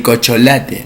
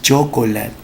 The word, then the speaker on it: chocolate: O por ejemplo, cuando dicen, no, el cocholate. No, no es cocholate, es chocolate. Otro caso puntual de barbarismo son los arcaísmos.